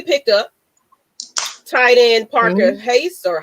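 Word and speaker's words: Hesse: Tight end Parker Hayes or Hasey or however you say his name, and Sam Yes. Jones. Hess.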